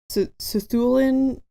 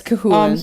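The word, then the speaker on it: Cú Chulainn: Cthulhu, maybe Cahulin? Cahulin, there we go. Yeah, it's Cahulin.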